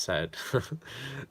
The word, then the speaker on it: Said: love referring to Saeed Saeed pronounced said ed said my lecturer loved him